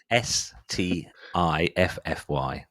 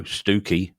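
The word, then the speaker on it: Stiffkey: it's spelled s ffy so how would you pronounce that FTI ffy s TI ffy stiffy no stooky it's stooky on the way this is this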